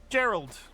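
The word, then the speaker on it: Geralt: You still got it wrong. Hard G. Gerald.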